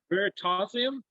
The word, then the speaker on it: Veritasium: USIM. Like it ends like gymnasium.